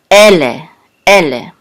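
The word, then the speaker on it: אלה: This is the lamed and a segol and a hey, and this together will say le, ele. So the accent is on ele.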